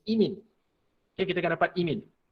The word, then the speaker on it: imine: Bukan imine. Bukan imine. Dah lah imine lagi kan. Bukan imine. Imine. Sebutan yang betul, the correct pronunciation is imine.